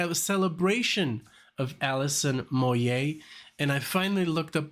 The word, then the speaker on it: Moyet: I think I would say Allison Moyette or something like that. I would pronounce the T because I thought it was French or some stuff, but it's Moyet.